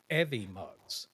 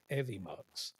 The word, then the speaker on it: Evmux: some videos earlier, learning about stuff, and it's actually called Evimux. Is how you say it. It's EVMUX. Evimux.